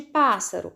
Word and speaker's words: pássaro: ser acentuada na palavra pássaro nós temos um dígrafo que são os dois ésses então cada é se tem que ficar numa sílaba a sílaba mais forte de pássaro é o pa a última penúltima ou